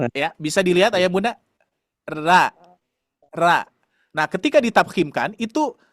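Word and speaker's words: ر: Nah, kalau huruf ro tarkik atau tipis bunyinya gini. Ra, ra, ra, ra. Ya, bisa dilihat ayah bunda? Ra, ra.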